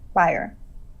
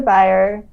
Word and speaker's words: Beyer: remembered by theresa beyer is it buyer or bayer buyer uh neutral did i say it right yes you did okay theresa buyer uh she's in new